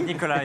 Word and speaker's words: Nicolas: And I have Nicolas, so I say Nicolas and pronounce it correctly. Nicolas is perfect, yeah.